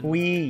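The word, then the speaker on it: Qi: Qui, yes, that's how you pronounce it.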